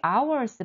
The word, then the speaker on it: hour: 수 있을 것 같은데 여기 hours 발음 잘 봐 hga 소리가 안 난다 그랬어 그럼 이건 모음 취급인 거지 알고 있는 친구들을 크게 말해 볼까 for an hour 자 이제 몰랐던 친구들